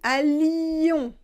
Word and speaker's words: allions: Et là vous avez L-L-I, la prononciation c'est li. Donc ici, aïe, et ici, allions. Là on prononce le L.